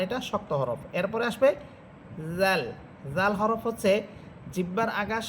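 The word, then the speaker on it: ز: এরপরে হরফ হচ্ছে জা। জা এটা ঝিঝি পোকার মতো আওয়াজ হবে।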